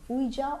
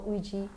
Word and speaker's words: Ouija: The last of the list is Ouija or Ouija, however you want to pronounce it. This is Ouija, yes. Both are Ouija. correct, Both are actually. fine.